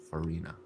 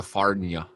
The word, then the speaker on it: Farina: Like Purina. Like Purina, But with an F. but with an F. Okay. Farina. Okay. No. I was calling you Farnia. Because I didn't know how to say it.